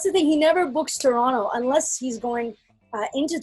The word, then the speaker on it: Toronto: that like it's etobicoke just like you don't see toronto like toronto you say it like toronto toronto toronto toronto toronto that's like your og you're from here if you don't say the t at the end yeah i'm gonna go